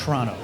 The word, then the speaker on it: Toronto: just there in toronto you don't pronounce the first o in toronto and it's toronto oh okay i didn't